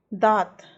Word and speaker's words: दांत: तो जो हम सही उच्चारण होगा, है ना, उस पर क्या करेंगे, टिक लगाएंगे। तो शुरू करते हैं। दांत, दांत, दांत, तो हम क्या बोलते हैं, दांत।